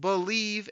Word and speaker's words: Bleav: It's called Believe in Lions, and that's spelled BLEAV on the Believe Podcasting Network, with both myself and Lions legendary safety Benny Blades.